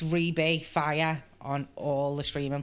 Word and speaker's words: Rhi-B: all of them so call me rebe except for Facebook it's Reb Reb because they wouldn't let me have to call me so spell spell it R hi I space b Reb and it's rebay fire on all the